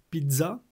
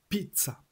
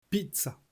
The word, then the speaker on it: pizza: qui est correct c'est pizza. Donc la prononciation c'est pizza. Je vous le mets ici en phonétique. Pizza. Pizza. Pizza. Le zz se prononce ts et pas dz.